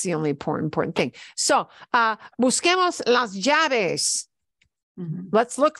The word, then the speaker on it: busquemos: And the only way to do that in Spanish is to say Q-U with an E.